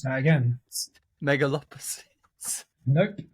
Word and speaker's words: Megalopolis: Megalopolis. Nope. Megalopolis. It's Metropolis with the word mega at the beginning.